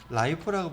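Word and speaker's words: LIFO: 후입 선출법은 라이포라고 불러요.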